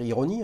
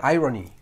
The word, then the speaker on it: Irony: Et c'est donc une Swatch, on va dire ironie, hein, je pense. Hein. Irony. C'est ça, exact. Irony, hein, les amis, il faut quand même prononcer les choses correctement, avec un mouvement auto.